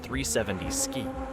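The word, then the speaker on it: 370Zki: In 2018, Nissan arrived at the Chicago Auto Show with something that made jaws drop, the 370Z ki. Pronounced 370Z ski.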